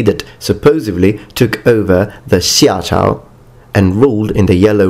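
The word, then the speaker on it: 夏: It is pronounced shia.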